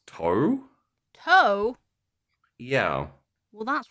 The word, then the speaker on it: Tau: it says that um also spelled t-a-u in older records and pronounced toe t-o-w i feel like that